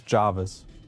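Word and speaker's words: Jervis: But yeah, there are a lot of like what still gets me is Jarvis. Why is an E pronounced as an A?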